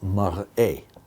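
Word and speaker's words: מַרְאֶה: So mirror is mar'ah, appearance is mar'eh.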